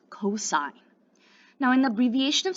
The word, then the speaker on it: cos: hypotenuse next we have it's spelled c-o-s when we work with it in math but it's pronounced cosine now in the abbreviation